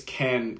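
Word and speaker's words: Cairn: what's the company called I think it's Ken Ken candles is spelled c-a-i-r-n um and it's from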